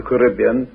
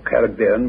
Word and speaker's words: Caribbean: The Lycontian plain is now the Caribbean, or Caribbean, whichever pronunciation you prefer, sea.